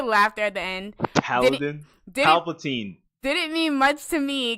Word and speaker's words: Palpatine: degular Star Wars landscapes, and then we hear Paladin. Did I pronounce it wrong? We hear the laughter at the end. Paladin? Palpatine.